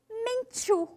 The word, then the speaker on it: Menchú: Desafio aí esse R forte do começo, Rigoberta, Rigoberta e Menchú. Esse final que também é forte, né?